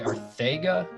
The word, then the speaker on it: Arcega: Is it Arcega? People say Arthega. I just call him Jaws. So Jaws would work. I think he said it's Arthega, but we don't listen to him.